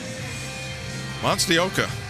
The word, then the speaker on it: Monstioka: The greatest thing you got going is you're pronouncing that last name right. Thank you. It's pretty strong. Monstioka for Florida.